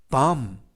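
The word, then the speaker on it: bomb: 에서는 아 때문 뭐 그리고 비는 묵음 그래서 빠 음 빠 음 이라고 발음합니다 뜻은 폭탄 이라는 뜻입니다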